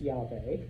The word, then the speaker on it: Yahweh: If you notice, ancient Hebrew, no vowels, just like every ancient language, but it is pronounced Yahweh.